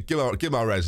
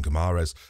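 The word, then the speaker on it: Guimarães: Apparently, Guimaraes apparently is how you say it, but I've sort of nailed on Guimaraes.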